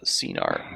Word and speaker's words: Scenar: Scenar. eh? It's pronounced Yeah.